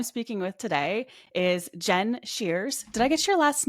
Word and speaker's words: Shears: I'm Jen McDonald, and the horrible person that I'm speaking with today is Jen Shears. Did I get your last name correct there, the pronunciation?